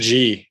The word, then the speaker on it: Xi: I'm more concerned about the sort of increasing dogmatic approach of Chairman, I can never pronounce Chinese names. Chairman Xi, right? Xi, yeah.